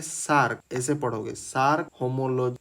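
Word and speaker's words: Src: Domain S आरसी इसका pronunciation होता है सार्क।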